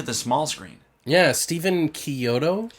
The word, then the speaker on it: Chiodo: Yeah, Stephen Chiodo. I think that's how you say it because it sounds like an Italian name. Yeah. Or Kyoto?